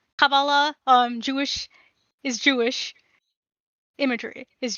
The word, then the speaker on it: Kabbalah: has Dark Matter, our resident Jewish person, has said if Kabbalah, that's how you pronounce it, Kabbalah, Jewish is Jewish, imagery is Jewish, then Gendo Ikari is my favorite Jewish anime character.